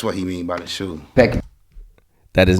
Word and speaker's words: SHU: say shoe program. To those of y'all that don't know, he don't mean actual shoes. Up in prison, the shoe is spelled SHU, meaning special housing unit.